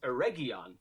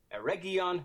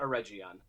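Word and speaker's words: Eregion: it is indeed pronounced a region with a hard g there are no soft g's in elvish so ereggion not a region a region like galadriel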